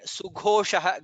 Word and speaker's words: सुघोषः: Again sughoshah. Gha is mahaprana.